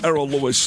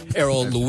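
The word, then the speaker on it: Errol Louis: So, now you and Errol Lewis are getting your asses kicked this morning. Errol Lou, you mean?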